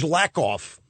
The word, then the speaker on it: Lakoff: We got some George Lakoff.